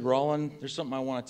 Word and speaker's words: Rollin: say what's your name son and I'd say rowling and most the time when people say Rawlin